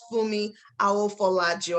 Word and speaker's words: Funmi Aofolaju: it so graciously i have with me mrs fumi i will follow you i hope i pronounced your name right ma yes you do